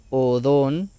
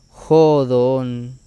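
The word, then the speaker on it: ὁδόν: Ejemplo, aquí tenemos esta palabra que se leería normalmente odón, pero vemos que aquí en la O tiene un espíritu fuerte, lo cual nos indica que se debe pronunciar con una J al inicio. Entonces ya tenemos la pronunciación que sería jodón, con J debido al espíritu fuerte.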